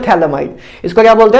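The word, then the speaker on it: phthalimide: इसको वैसे पीएच ना साइलेंट होता है वैसे, लेकिन मैं पीएच ही बोलता हूं क्योंकि मजा आता है मुझे बोलने में। वैसे इसको बोलते हैं थैलेमाइड, इसको क्या बोलते हैं, थैल इमाइड।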